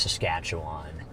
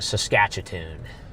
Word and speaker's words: Saskatchewan: Yeah, it is pronounced Saskatchewan. Gary likes to call it Saskatchoon.